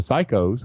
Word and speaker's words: psycho: the pussies and the psychos, which you don't pronounce P that way when you say psycho, but you see what it does, right?